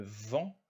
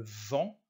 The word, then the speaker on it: vent: Le vent, devant, le croissant, le T ne se prononce pas sur ces trois mots.